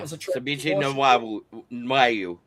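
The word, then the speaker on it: Febechi Nwaiwu: Yeah, Fabici Nawai.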